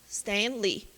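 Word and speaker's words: Stan Lee: É as duas tônicas ou uma é mais forte que a outra? É Stanley ou Stanley? São dois nomes. Stan, separado, Lee. Então, as duas são tônicas. Stanley.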